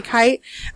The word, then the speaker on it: Kite: It's spelled like night, but with a K and no N. So Kite. Kite.